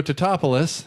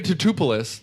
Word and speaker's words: Tatopoulos: And she happens to know Nico Tatopoulos, who's Matthew Broderick's character. No, you mispronounced that. Nico Tatopoulos. Yes.